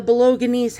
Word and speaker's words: Bolognese: Here are the Bolognese hounds. And that's how it's pronounced.